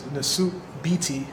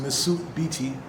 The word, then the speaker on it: Nesut Biti: So, this is the name that I go by, which is the suit BT. That's the way it's pronounced, the suit BT.